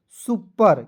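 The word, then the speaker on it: super: सुपर क्योंकि ये जो है दोस्तों आपको एडवांस इंग्लिश का पोर्शन है।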